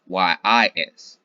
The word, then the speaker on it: Kyis: Yes, and I made this because it is said just as yes, because it is yes. Yes, the K is silent.